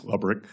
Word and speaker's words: Lebrick: Am I pronouncing his name correctly? I believe it's Lebrick.